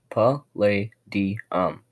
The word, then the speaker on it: Palladium: Palladium, pronounced pa-lay-di-um, the 46th element.